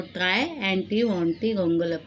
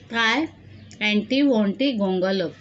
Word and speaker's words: Triantiwontigongolope: Try Anti Wanty Gongolap.